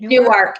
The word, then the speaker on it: Newark: I hope I'm pronouncing it right. Newark.